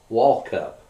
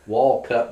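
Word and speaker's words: Walkup: you happen to know is that the correct pronunciation on his name and yeah it was Hoy wallup wup wallup w w a l k u p wup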